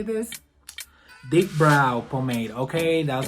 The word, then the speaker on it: pomade: Deep brow pomade, okay? That's how you say it.